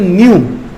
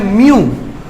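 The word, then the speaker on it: ν: इसको बेटा बोलते हैं न्यू। प्रोनाउंसिएशन लिख रहा हूं साथ साथ। न्यू, न्यू होता है, एक होता है म्यू, ये होता है म्यू है बेटा? नहीं नहीं, कहाँ होता है एटॉमिक मास? म्यू वो नहीं रे, अरे वो नहीं, वो नहीं। AMU और न्यू और म्यू में बहुत अंतर है।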